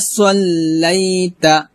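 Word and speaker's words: صليت: তারপর কামা সাল্লাইতা, কামা সাল্লাইতা হবে না, হবে সল্লাইতা, সদ মোটা করতে হবে, কামা সাল্লাইতা আলা ইব্রাহিমা,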